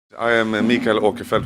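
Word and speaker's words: Mikael Åkerfeldt: I am a mica aquifer which is the Swedish way to pronounce my name yeah and I'm the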